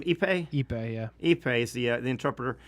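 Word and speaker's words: Ippei: Epipe.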